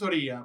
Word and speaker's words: Oría: ¿Oria o Oria? ¿Cómo se pronuncia? Es Oría, Oria, pero Oria.